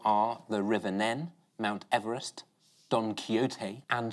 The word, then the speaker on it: Nene: They've all been mispronounced apart from the River Nen, which has officially settled the pronunciation of its name with a croquet match. I got in trouble for calling it the River Neen on point this once.